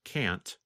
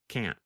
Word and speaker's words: can't: In the pronunciation video of Lesson 20, you can hear Pete first pronounce can't with the letter T. And then the next time, you hear him pronounce it with the held T, can't.